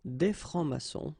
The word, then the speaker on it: des francs-maçons: S here and S here. Des francs-maçons, and then you don't pronounce them.